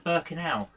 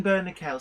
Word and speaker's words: Bernickel: to say so it's so what was it bernie kell yeah so it's colin bernickel so thank you for